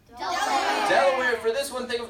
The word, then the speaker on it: Delaware: at the middle colonies this one rhymes with Tupperware that's the D Delaware for this one think